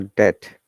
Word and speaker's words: debt: Okay, and another important rule about B is that if there's BT together, B is always silent, like debt. Is it debt or debt? Okay, let's find out. DEBT. Debt. So it is debt.